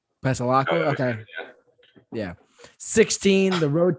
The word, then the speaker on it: Pasalacqua: Going to Pasquale, is that how you say it? I never know how to say it. Pasalacqua.